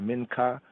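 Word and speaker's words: מנחה: form here mean hot others say the Minka Minka here and I say the Minka as it's pronounced in modern Hebrew Minka is here the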